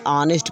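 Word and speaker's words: honest: नहीं हो रहा है, यहाँ पे H साइलेंट है, इसे ऑनेस्ट पढ़ रहे हैं, ऑनेस्ट मैन, ऑनेस्ट।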